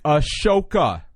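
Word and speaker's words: Ahsoka: wallet photos of of sooka or something while we're at it uh ladies and gentlemen if you don't know how to say her name it is a shoka right emphasis emphasis on the sh yeah you shut your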